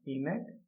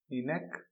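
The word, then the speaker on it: ENIAC: गलत लिख दिया है इसका नाम है इनेक ई एन आई ए सी इनेक ठीक है तो इलेक्ट्रॉनिक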